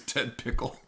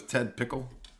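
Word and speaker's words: Ted Pikul: His name is Ted Pickle. What? Didn't he say his name was Ted Pickle?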